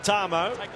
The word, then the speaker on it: Tamou: want you call for the confusion over the pronunciation he said now it's mr. Tom oh he's happy with our move but Tom o